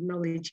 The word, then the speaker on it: knowledge: jago bahasa Inggris ya, bilang knowledge-nya jangan pakai K atau knowledge ya. Jadi harus bagus ya pelafalan pengucapan bagaimana mengatakan power dan knowledge itu ya.